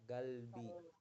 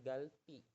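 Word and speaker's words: 갈비: makanan korea ini itu masih tetap dibacanya galbi galbi bukan Bukan galpi tapi galbi jadi ini khusus untuk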